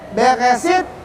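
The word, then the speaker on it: בראשית: Ini bacanya Beresit, Bara.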